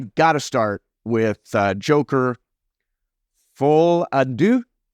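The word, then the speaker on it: Folie à Deux: to start with Joker full Adu I believe it's the way to pronounce that uh from Warner Brothers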